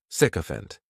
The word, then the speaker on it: sycophant: The spelling may throw people off to the pronunciation, but that "sic" is just pronounced sick, sycophant.